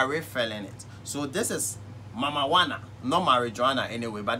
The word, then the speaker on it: Mamajuana: it so this is mama wanna know my Regina anyway but don't confuse the pronouncation it's called mama wanna so this is how mama wanna it's me